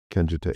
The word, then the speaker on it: Kenjutsu: Okay, so you hold a fourth So, number one, you hold a fourth-degree black belt and I can't even pronounce it, Kenjutsu? Kenjutsu, yep.